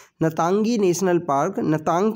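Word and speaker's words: Ntangki: park पाया जाता है इसका जो आई है वो साइलेंट है ना तंगी नेशनल पार्क नतांग की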